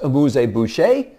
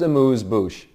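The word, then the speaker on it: amuse-bouche: You know, it's not pronounced abuse bush. It's pronounced amuse bouch.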